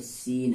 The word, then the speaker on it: scene: को पढ़ेंगे तो नहीं पढ़ेंगे, छोड़ देंगे तो सीन हो जाएगा, क्या हो जाएगा, सीन।